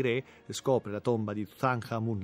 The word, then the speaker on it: Tutankhamun: scopre la tomba di tutankhamun l'abbiamo pronunciato nella maniera egiziana tutankhamen no e scopre la tomba di tutankhamen così tutti quanti tutan hamun dovrebbe essere pronunciato nel modo egiziano antico scopre la tomba di